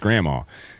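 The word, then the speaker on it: gramma: It's G R A M M A, but it is pronounced grandma.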